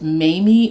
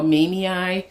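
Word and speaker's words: mamei: Behind it, I have my, I believe it's pronounced Mamie or Mamie silver philodendron, and this plant was not doing anything for me.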